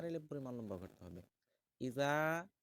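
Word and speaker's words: إِذَا: তো দেখুন, এখানে আছে ইজা। ইজা পাতলা, জাল পাতলা করে বলতে হবে এবং এক আলিফ পরিমাণ লম্বা করতে হবে। তারপরে যা, যা ৪ আলিফ পরিমাণ লম্বা করতে হবে। ইজা যা আ নাসরুল্লাহি ওয়াল ফাতহ।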